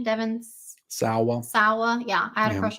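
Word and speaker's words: Devon Sawa: one devin how do you say his name devin sawwa yeah i had a crush on him too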